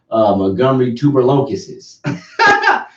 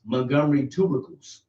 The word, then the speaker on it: Montgomery tubercles: I called them Montgomery tuberlocuses. I said Montgomery tuberlocuses. But guess what? Since nobody pronounced Montgomery tubercles.